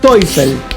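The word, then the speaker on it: Teufel: y diablos se dicen topel y la eu aquí se pronuncia como si fuera una Oy como si fuera neer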